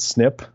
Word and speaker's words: SNP: called single nucleotide polymorphisms which are abbreviated snip like SNP we just pronounced it's snip and those snips are